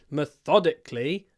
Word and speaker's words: methodically: she works methodically so in this word methodically the stress moves to the second syllable uh I like this